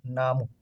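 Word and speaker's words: 나무: যে মিউম মিউমে মার এই যে হুস্যু দিলাম তাহলে এটা হচ্ছে নিউন নিউ না ন এটা আকার না এটা হচ্ছে মিউমের ম আর এটা হচ্ছে হুস্যু নামু নামুতে কি হয় নামুতে হচ্ছে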